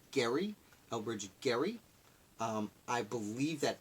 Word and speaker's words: Gerry: before we get started I've heard arguments that the name is pronounced Gary Elbridge Gerry I believe